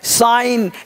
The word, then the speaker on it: sign: देख पा रहे हैं साइन यहां पर जी साइलेंट है रेंस आसन तोरण का